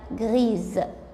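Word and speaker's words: grise: اما بقى غري الرمادي بقى غريز تغير نطقها علشان ضفت لها لتر او بعد الاس.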